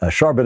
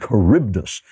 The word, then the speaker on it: Charybdis: Homer and Greek mythology I called them Scylla and sharbat is it's Scylla and Charybdis Scylla and Charybdis I